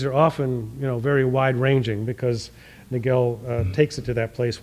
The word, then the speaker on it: Nagell: I sometimes say Nagell and sometimes I say Nagell because he actually pronounced it both ways, but it has 2 L's on the end of it.